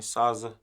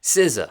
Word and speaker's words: SZA: Saza. SZA. SZA. SZA. Saza. My bad for saying your name wrong, but how you say it? SZA. SZA.